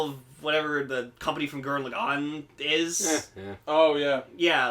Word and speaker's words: Gurren Lagann: The difference is he's correct. It's Gurren Lagann. Gurren Lagann.